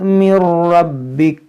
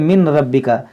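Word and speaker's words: مِن رَّبِّكَ: सबक़त, यहाँ देखें मिर रब्बिका, मीम इसका हिज्जे कैसे करेंगे, मीम नून रा ज़ेर मिर, इसको पढ़ेंगे मिर। बाज़ लोग क्या पढ़ते हैं मिन रब्बिका, इस नून की यहाँ पर आवाज़ ही नहीं आएगी, ये नून जो है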